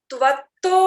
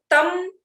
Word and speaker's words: त्वं: और त्वं ब्रह्मा, त्वं वहां बोलते समय भी दिक्कत होता है, त्वं ब्रह्मा त्वं, सब में त्वं त्वं आ रहा है, तो तम तम बोलने की यहाँ कुछ लोग करते हैं गलती से, उसको ना करें, सही उच्चारण करना बहुत अनिवार्य है।